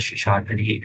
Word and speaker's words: Sheshadri: Welcome to Toastmaster Shesadri and Toastmaster Seina. Sorry, am I pronouncing your name right? Yeah, Yes, Sheshadri. Toastmaster Nikhilesh.